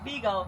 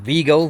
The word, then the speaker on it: Vego: We've been saying Vego, Vego, Vego, Vego, Vego. But they know them folk know we country. Complimentaries of Vego. Got dog on VGO.